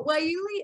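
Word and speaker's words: guayule: kate's talking about waiuli which starts with a g believe it or not it is not phonetically skilled i tried to google it and they came up all wrong so why you is an alternative rubber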